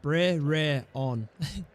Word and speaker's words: Brereton: I pronounce it Bre-re-on. Really? Where's the T? No T? I mean, if I was to read it how I'd read it, would be Brereton.